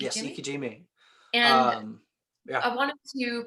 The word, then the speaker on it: ikejime: Ikejime? Yes, ikejime.